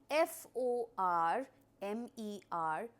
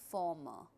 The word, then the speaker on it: former: We do have the R there, but when you pronounce it, do not pronounce the letter R. So the spellings are F O R M E R, but we do not